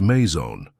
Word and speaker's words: maison: "That's pronounced maison," Sophia said, sounding out the syllables slowly.